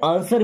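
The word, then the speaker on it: answer: बना पाएंगे ओके से आंसर मी देखिए यहां भी डब्ल्यू साइलेंट है ना क्या पढ़ते हैं आंसर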